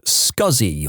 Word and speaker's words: SCSI: Guy put experience with scuzzy on his resume. For non techies, SCSI is a type of hard drive pronounced as he wrote it, but never in a million years written that way.